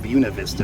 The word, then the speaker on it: Buena Vista: of its to Colorado but they pronounce it Buena Vista like beautiful and it's just south